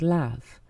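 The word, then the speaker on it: Hlaf: There is a cafe on site which is called Lav. This is spelled H-L-A-F and is the Anglo-Saxon word for loaf.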